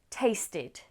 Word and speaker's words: tasted: Again, in the spelling the last letter is an E, but the pronunciation, the last sound is T, taste. So, add ed, tasted.